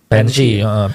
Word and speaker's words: Banshee: Bacanya apa, Bu? Banshee.